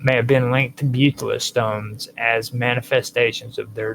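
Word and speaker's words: baetylus: linked to bet no betalis stones or betilus stones orus stones, whichever way you want to pronounce it. B A E T Y Lu S. um may have been linked to butilus stones as manifestations of their divine influence over nature.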